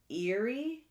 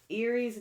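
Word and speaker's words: Ériu: Their names were Banda, Fula, and Eerie, I think is how it's pronounced.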